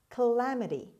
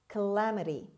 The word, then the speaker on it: calamity: engelope word number seven calamity calamity calamity the first a is pronounced as schwa the stress is on the second syllable on lesson calamity means